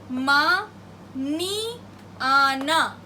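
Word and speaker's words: mañana: The pronunciation for this is something like ni, ni. This is N-A and this with tilde is ni. So the example is ma, ni, ana, maniana.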